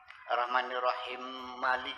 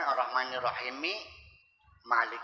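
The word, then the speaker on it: الرحمن الرحيم مالك: Yaitu ketika baca Ar-Rahmanir-Rahim Maliki, Ar-Rahmanir-Rahim Malik kan. Seharusnya kan Ar-Rahmanir-Rahimi Malik ya, bukan Ar-Rahmanir-Rahim Malik ya, bukan diidghamkan. Nah, selesai sholat, saya temui, saya sanjung dulu supaya jangan tersinggung.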